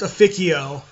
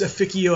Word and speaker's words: Officio: yes it is pronounced aikio if you're speaking Latin if you're speaking English it can be whatever the you want but if you want to say it in Latin it's aikio assassinorum now let's go